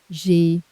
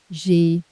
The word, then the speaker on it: J'ai: Hear that? One smooth syllable. On paper it's 2 words, I, then have, but French hates the bump between 2 vowels. Drop a letter, plant an apostrophe, weld the words.